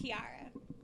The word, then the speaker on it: Kiajarra: It's Kiajarra. All right, The kid. J is silent. Kiajarra. It's Kiajarra with a silent J.